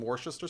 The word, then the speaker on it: Worcester: And I think maybe some Worcester sauce. Mm-hmm. I apologize to anybody that knows how to actually pronounce that word.